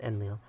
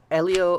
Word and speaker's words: Enlil: these guys names eliel yes it's Elio not enlil um Elio wants to destroy everyone